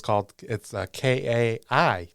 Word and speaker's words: chitin: But phonetically, it's Kaitin. Chitin. Like the author, Michael Chitin. Okay.